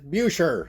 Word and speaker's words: Buescher: that Bisher put and it said in parenthesis pronounced like Bisher B I S H E R. Then you know, you get some people who are German. They're going, "Ah, it's it's Bucher.